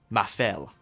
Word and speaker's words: Mafell: MAFELL (Pronunciation is ‘ma-fell’) This is the NFU 50 by German company Mafell.